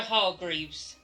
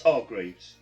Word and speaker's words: Hargreaves: name roger hall groups roger hall greaves it's hargreaves roger hargreaves she's interfering again right